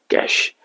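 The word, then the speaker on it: cache: कैश। लेकिन आप इसको कैचे ही याद रखना, क्योंकि आपको कहीं इंटरव्यू तो देना नहीं है।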